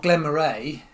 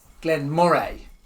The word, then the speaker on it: Glen Moray: Not Glen Murray, Glen Mor.